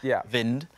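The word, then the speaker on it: Wind: I've got Jonas vind I am famous for getting all pronunciations absolutely incorrect but I'm pretty sure it is vind um he plays for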